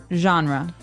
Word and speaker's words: genre: We say genre. Genre. Word genre. This kind of sounds French.